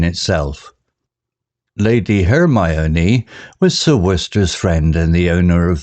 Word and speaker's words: Worcester: villagers found it peculiar how sir worcester's name was pronounced Worcester a mystery in itself lady hermoni was Sir worcester's friend and the owner